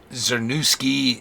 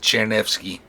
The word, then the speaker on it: Czernewski: My name's pronounced Czernewski. CZ in Polish. This is the extent of my knowledge of the Polish language, by the way. CZ produces a CH sound, like in chair.